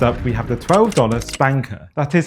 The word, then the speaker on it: SPNKr: First up, we have the $12 SPNKr.